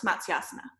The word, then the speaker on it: matsyasana: to Maps yeah right so the the a in the middle becomes long you remember that rule because it's matsya and Asana so it becomes a long a so when you put